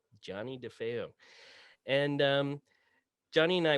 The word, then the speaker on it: Johnny Defeo: name for us sure my name pronounced correctly is johnny defeo johnny defeo and um johnny and